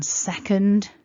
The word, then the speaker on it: second: a measurement of time that noun second has the stress at the beginning and to make that first syllable stressed we have to make something else weaker and the way that we do that in this word is with that schwa sound so it's second not second so that's your takeaway tip for this word is go soft with your vowel in the second syllable second so i hope